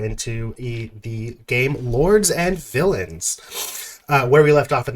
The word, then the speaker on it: Villeins: This game, Lords and Villains. Villains is spelled like Villeins.